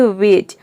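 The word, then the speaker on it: wedge: rule number one है यदि किसी वर्ड में डी के बाद अगर जी ई हो तो डी साइलेंट रहता है मतलब कि डी को आपको प्रोनाउंस नहीं करना है डी का उच्चारण नहीं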